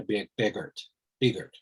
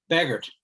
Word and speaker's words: Begert: joined by scott cardwell and uh beavert sorry beggart thank you so since i've already butchered your name right off the bat do